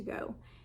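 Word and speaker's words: Gogh: for a while and it's from painting to go and go is spelled g o g h so painting to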